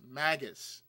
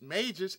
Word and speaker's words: Mages: characters were Mages as maggus I didn't not know it was pronounced Mages until it was until I was told it's pronounced Mages I said okay so it's like Black Mage White Mage a couple of Mages